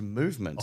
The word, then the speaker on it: MVMT: MVMT, pronounced movement, Mason, grew into one of the fastest growing watch brands, shipping to over 160 countries across the globe.